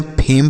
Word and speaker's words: fame: अगला FAME, तो इसे हम फेम पढ़ेंगे। FAME, फेम। तो देख रहे हैं ना, हर जगह कहीं भी ई का उच्चारण नहीं किया जा रहा है।